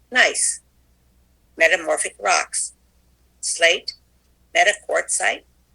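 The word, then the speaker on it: gneiss: igneous granite changes into g-n-e-i-s-s pronounced nice metamorphic rocks slate meta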